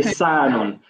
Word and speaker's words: حصان: So your Saad, I'm not the master of pronunciation, but your Saad sounded more like a scene. Okay. Hisanun. So it should be, there's a difference between Hisa and Hisa.